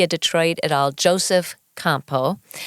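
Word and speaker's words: Campau: Detroit at all Joseph Campo and that's the French pronunciation I actually did know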